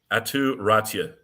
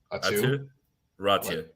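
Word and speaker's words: Aatu Räty: Atu Ratia. There you go. You're welcome. Trust the broadcast guy who studies pronunciations.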